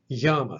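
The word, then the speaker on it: γάμμα: Yama sounds like Y in the word yet. Y.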